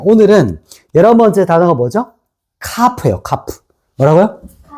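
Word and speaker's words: כף: 카프예요. 카프. 뭐라고요? 카프. 카프. 자, 카프는 렇게 씁니다. 카프. 자, 읽어 보세요. 카프.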